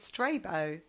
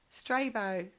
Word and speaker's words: Strabo: and a geographer called Strabo no stray bow Strabo my pronunciation is a legendary